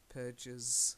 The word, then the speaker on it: purges: you purchase purchase purchase normally with the GES ending you will pronounce the e like oranges rages purges so she yes it's